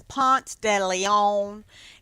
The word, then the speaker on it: Ponce de Leon: It's Ponce de Leon, and that's pretty much how they say it.